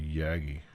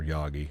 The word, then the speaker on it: Yagi: no really three element rotary is actually yagi or yogi depending on how you want to pronounce it wow i don't think